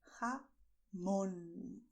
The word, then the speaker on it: jamón: This symbol is telling us we should stress this vowel. So we are going to say jamón, stressing mon.